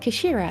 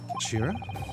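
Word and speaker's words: 頭: It's written as head in Japanese, but it's pronounced as Kashira, I believe. Kashira.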